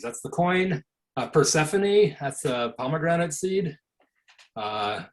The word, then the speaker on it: Persephone: should name the moon persephone and then mispronounce it just like jim christie did i pronounce it per stephanie uh but so that's